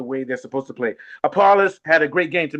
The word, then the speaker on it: Appollis: Apollonis, how do you pronounce his name? Appollis.